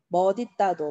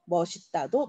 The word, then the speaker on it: 멋있다: 그래서 맛있다와 멋있다 요 두 단어는 둘 다 발음이 맞습니다. 맛있다도 맞고 맛있다도 맞고 멋있다도 맞고 멋있다도 맞고 둘 다 맞는 발음이에요.